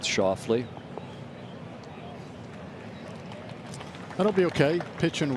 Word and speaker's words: Schauffele: He's asking for it to land softly, which for our friends in Memphis rhymes with Schauffele.